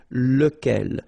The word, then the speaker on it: lequel: Okay, so remember, you've got to pronounce it lequel, even if you've got this QU. Okay, remember that this U phonetically doesn't exist, so lequel.